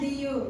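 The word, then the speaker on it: Leh: what are there Capitals do you know okay लेट me tell now Jammu and Kashmir are Srinagar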